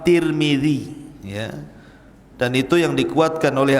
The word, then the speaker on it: Tirmidzi: kota sebuah daerah dan ada yang kemudian membacanya tarmid ada turmul ada tirmid jadi ada sebagian dalam mengatakan Imam tarmadi ada yang mengatakan Imam turmuzi ada yang mengatakan Imam Tirmidzi walaupun yang masyhur adalah Imam Tirmidzi dan itu yang dikuatkan